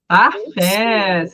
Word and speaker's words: anglais: Anglés. Parfa. Anglés. Pronunciei o a com i com som de e acrescentei o e no final. No anglé eu não pronuncio o S porque é a última consoante.